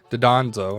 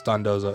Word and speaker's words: Dondozo: Dondozo, because I always say it wrong. Dodonzo is what I say. I know it's Dondozo, is an F.